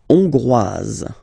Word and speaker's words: Hongrois: La Hongrie, Hongrois, Hongroise. Okay? Hongrois, Grois, Hongroise. Okay, so here final S not pronounced for the masculine form, and then you pronounce it here for the feminine form.